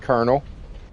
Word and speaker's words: colonel: Why is that pronounced Colonel?